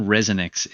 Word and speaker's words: ResoNix: Well, if you think about it, the name ResoNix is a play on two words: reso, resonance, and nix, like getting rid of.